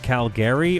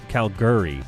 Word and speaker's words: Calgary: Calgarians pronounce it because I've seen it um uh Calgary or Cal Calguri. Which one is it? And then everybody in the chat was like Calgary. Cal Cal. What are you t It's Calgary.